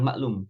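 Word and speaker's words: معلوم: bahasa kita juga kan maklum sudah dimaklumi sudah dimaklumi bersama artinya sudah diketahui bersama maklum pakai Ain jangan seperti bahasa kita pakai k maklum bacanya meskipun pakai k Tapi bacanya maklum Ya maklum maklum Antum ingat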